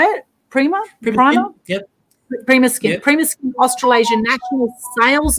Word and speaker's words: PrimaSkin: PrimaSkin.